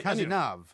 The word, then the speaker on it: Cazenave: No, it's French. Oh, you really think you're entitled to do that? Right. It's French. So anyway, Cazenave.